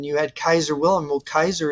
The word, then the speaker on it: Caesar: had Kaiser Willam well Kaiser is the proper Latin pronunciation of Caesar he did that's some kind of Corruption of L that's um what do you call it Church Latin to say Caesar but it's actually his